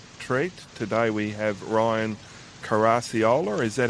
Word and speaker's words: Caracciolo: Today we have Ryan Caracciolo. Is that how you pronounce it? Yep, Caracciolo.